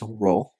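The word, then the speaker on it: ρ: row Theta and Fe so here this is pronounced as row this is Theta and this notation is Fe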